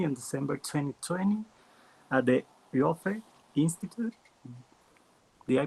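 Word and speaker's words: Ioffe: Victoria got her PhD very recently in December 2020 at the IOFE Institute. Did I pronounce correct? IOFE?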